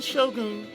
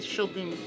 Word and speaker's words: shogun: The formal head of the government was not the shogun himself, but the emperor here in Kyoto. Yeah, most people say shogun, but it's pronounced shogun. So what I'm saying is grammatically correct. Shogun and not shogun.